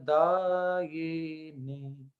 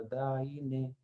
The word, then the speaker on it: दायिने: अच्छा, कुछ बोलते हैं दाई ने, बड़ी ई की मात्रा या छोटी ई की मात्रा, दाई ने नहीं, यहाँ या पे छोटी ई की मात्रा है, दाई ने।